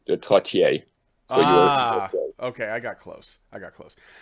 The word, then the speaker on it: Trottier: The only accurate pronunciation is in French, I suppose. It would be Trottier.